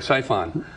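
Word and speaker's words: Psiphon: do I pronounce it siphon Sion it's spelled PS i p h o silent P we put in there I thought it was but I wanted to ask anyway siphon um this is a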